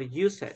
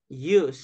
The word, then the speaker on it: used: right okay so we we avoid pronouncing letter e okay we don't pronounce letter e so we don't say love it or use it yeah so loved used Lov yeah okay very good